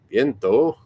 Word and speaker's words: viento: But that's another thing too, that the Spanish people, it'll be spelled like a V, but they'll pronounce it like a B, so it'll be viento instead of viento.